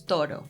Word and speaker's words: toro: Let's say todo versus toro. The difference lies in the pronunciation of the D and the R sounds, the dental D in todo and the tap in toro.